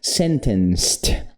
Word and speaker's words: sentenced: Não, então vai ter som de T depois, só que a gente não pronuncia o e, então vai ser sentenced, entendeu?